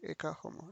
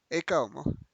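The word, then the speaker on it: Ecce homo: Sí, la H no se pronuncia. Eka homo. No, sí. Homo pues no. Eka homo.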